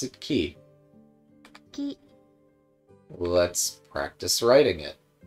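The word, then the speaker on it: き: But you pronounce it Ki.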